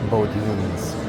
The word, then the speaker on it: Bodines: Bodines. Pizza, pasta, and steaks. I really think it's pronounced Bodine.